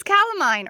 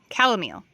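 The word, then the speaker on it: calamint: This is calamine, or I'm saying that wrong. I want to say calamine, but it is calomel. Calomel. That's how you say it.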